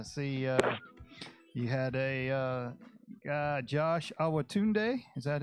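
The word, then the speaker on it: Awotunde: and coach I see he had a Josh our Tunde is that how you pronounce that that's right hey what you you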